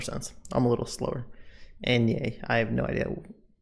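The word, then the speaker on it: eñe: The Enye is pronounced ni and sounds like canyon.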